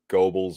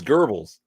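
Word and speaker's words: Goebbels: it's bad enough that most people just pronounce it Gobles or Gobles GBL it's Gerbes yeah but there's no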